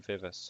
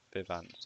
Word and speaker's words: Vivace: Put the new Vivus or Vivance or whatever it's pronounced as on there. Vivace. If that's how you're opting to pronounce it, sure. Vivace as in Italian and French vivace.